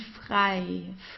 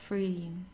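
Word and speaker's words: frei: EG that's I so it's pronounced the same as the English I like I do this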